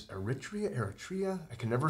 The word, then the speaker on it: Eritrea: Is it, or how do you pronounce that word right there? Aretha. It's from Ethiopia. Yeah. They speak Ethiopian and Arabic. And it's Eritrea?